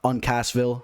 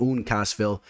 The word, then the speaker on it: Uncasville: connecticut and i don't have to pronounce uh on cassville i guess for a while i was calling it oon cassville and i really really